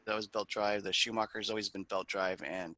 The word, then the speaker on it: Schumacher: In that, is it pronounced Schumacher? How do you say Yeah, it? Schumacher, right? Schumacher.